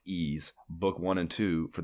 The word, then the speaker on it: Ys: opinion it is nac's it's just the letter y s but it's pronounced E's book one and two